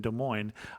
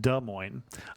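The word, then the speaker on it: Des Moines: Iowa podcast but being born and raised in De Mo I must say it was like fingernails on the Blackboard every time I heard de Mo it is pronounced d Mo a local T-Shirt Company even makes fun of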